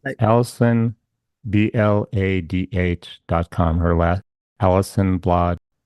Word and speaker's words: Bladh: Her last, Alison Bladh with the H. The H is silent.